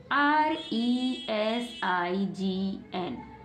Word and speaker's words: resign: RESIGN।